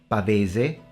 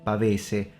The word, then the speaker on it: pavese: games and role-playing games, which in Italian are called pavise with a northern pronunciation, pavese with a southern pronunciation, pavise in English.